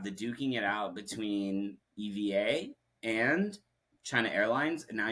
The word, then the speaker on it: EVA: Like the Starlux founder was originally at Eva Air or EVA, sorry, Mm. is I believe the correct pronunciation, Yeah, as EVA.